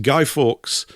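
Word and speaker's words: Guy Fawkes: for a gentleman called Gido Forks, more commonly pronounced Guy Forks, a Yorkshire lad, came from Yorkshire, my own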